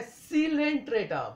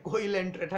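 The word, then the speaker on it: Coelenterata: है Porifera Porifera okay दूसरा है सीलेंट्रेटा बहुत सारे स्टूडेंट्स को कोंटा कहते हैं कोइल एंटा कह देते हैं तो क स्पेशली द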